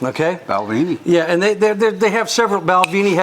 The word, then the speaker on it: Balvenie: actually that's how it's spelled and how it's pronounced okay Balvenie yeah and they they have several balvini has